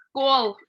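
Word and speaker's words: skål: of course okay so you say school school yeah because it's like a with a round thing on top and then l okay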